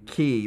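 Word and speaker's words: Kỳ: K-Y is his name? Key. Key, right.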